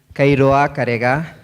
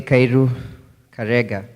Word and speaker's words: Kairu Karega: You've actually pronounced it correctly. Although in Kenya you pronounce it with a little more twist. It's Kairoa Karega. But you're allowed to say Kairu Karega.